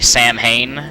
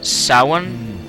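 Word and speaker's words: Samhain: Oh, by the way, I found, or I think I found, the pronunciation of what I was previously calling Sam Hain, because I'm American and we're silly like that.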